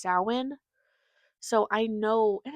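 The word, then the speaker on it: Samhain: and say, "Oh, that looks like you would pronounce it Sam Hayne." And it's not. It's pronounced sin.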